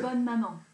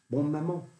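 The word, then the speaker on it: Bonne Maman: How do you pronounce it? Bon maman. Bon maman.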